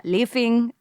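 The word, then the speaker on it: laphing: So tukpa, momos, lefing. Is that how you say it, Singha? Yes. Yeah, lefing.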